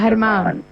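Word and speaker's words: Germán: So the G sound is pronounced like a H, and then you put an accent at the end. So it's pronounced Herman.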